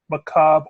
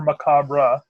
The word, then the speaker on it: macabre: I found out that it can be net pronounced either McCobb or macabre mm-hmm and if you're Neal if you're Neil Gaiman that can also be maca Brae though he only did that one in one story I think I was